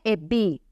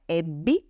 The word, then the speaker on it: ebbi: Non è ebbi, avesti, come sento spesso, o avesti, altra pronuncia che sento spesso, ma è ebbi, avesti, ok?